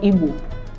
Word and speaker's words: Igbo: There is no English equivalent, so just listen to me. It's pronounced as B, B, as in Igbo. Can you say the word Igbo? Yes, Igbo is IGBO.